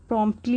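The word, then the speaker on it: promptly: the child प्रॉम्प्टली answered, the child तो यहाँ पे प्रॉम्प्टली हो गया, यहाँ पे टी साइलेंट होता है, इसे पढ़ेंगे प्रॉम्प्टली, प्रॉम्प्टली आंसर्ड यानी कि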